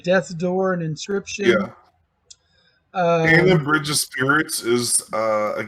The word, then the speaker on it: Kena: Kena Bridge of Spirits. It looks like it's Kena, but it's pronounced Kena.